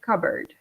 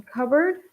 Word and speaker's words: cupboard: is a little strange you don't pronounce the P the P is silent ok seasick cupboard in cupboard the P is silent